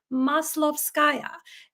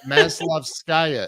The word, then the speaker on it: Maslovskaya: My name is hard to pronounce. It is Maslovskaya.